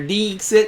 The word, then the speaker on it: Dixit: They're making fun of your Dixit. It's technically Dixit because it's a long I sound, and it's Latin.